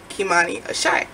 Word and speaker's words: Kimani Ashé: Kimani Ashé, okay?